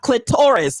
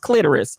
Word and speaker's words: clitoris: the sisters out there still running around talking about clitoris it's pronounced clitoris okay keep going who